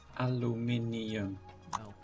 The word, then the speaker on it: aluminium: aluminum for now see thank you for pronouncing it correctly aluminium aluminum you have to go back